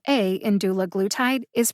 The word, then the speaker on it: dulaglutide: is the key to pronouncing things correctly the pronunciation guide in the usp dictionary online shows that the letter a in doula glue tied is a short a like bat matte or